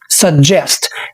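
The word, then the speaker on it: suggest: اسمها سجست مش بنقول سجست الجيجي اللي هنا مش بننطقهم ج بنقول عليها د سجست في نقطه سريعه تاني اللهجه البريطانيه بنقول عليها سجست سجست خلي بالك ان الستريس موجود على الجزء التاني من الكلمه فبنقول سجست جست وده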